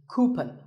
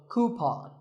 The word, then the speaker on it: coupon: one of these of a common incorrect pronunciation is cupen but the second syllable should be pawn so coupon here's word number 16